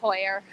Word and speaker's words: Heuer: This is really silly, but it's Heuer.